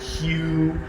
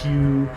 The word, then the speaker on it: Hu: they call it HU, because somebody's reading HU and they think it's pronounced Hugh. So when you hear the Ekankar guys going Hugh, they're actually trying to chant the Hu sound, which is the earth sound.